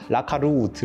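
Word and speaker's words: Lacalut: 이런 느낌을 좀 받았고 제가 채지피한테 독일 사람들은 어떻게 읽어 해가지고 발음까지 알아왔는데 라카루트 이렇게 읽어요.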